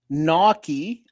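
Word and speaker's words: gnocchi: Naki, pronounced Naki, is a a varied uh family of Italian pasta, like dumplings made of small rolls of dough.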